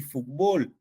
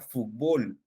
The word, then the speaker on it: fútbol: la palabra fútbol y fútbol no en Perú nosotros eh esta palabra la consideramos como una palabra grave fútbol No pero en México en México la tendencia es escribir o pronunciar la palabra fútbol no fútbol es una